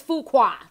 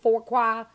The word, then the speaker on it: Fuqua: his last name is Fuqua thank you to all those who told me about the pronunciation so I will make sure to call him for qua fool qua whatever y'all know who the hell